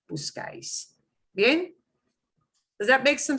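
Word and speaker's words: buscáis: This is an S, but the way people pronounce it breaks the rule. It's punching one of these vowels at the very end, not second to last, but the very end. So we put an accent on the vowel that gets the punch.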